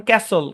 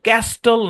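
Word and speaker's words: castle: ক্রিসেন বুঝছেন তারপরে দেখেন শব্দের শেষে এসটি এলই থাকলে টি সাইলেন্ট যেমন ক্যাসল ক্যাস্টল না হাসল হাসল না উসল উস্টল না বুঝছেন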